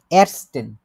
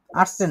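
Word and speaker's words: ersten: এরস্টেন, আর্টসেন না, arts arts হচ্ছে doctor, আবার ওটা অন্য জিনিস হয়ে যায়।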